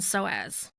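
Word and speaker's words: psoas: call the iliacus and soaz and soaz is spelled PS o so these muscles are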